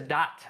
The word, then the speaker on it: Sadat: Am I pronouncing Sadat? Anwar Sadat? Sadat. Oh, I thought said Saddam.